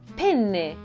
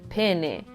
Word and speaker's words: penne: When you say it, make sure that you articulate and enunciate the double N. Penne. Otherwise, you'll end up saying penne, which is not something that you would eat for dinner.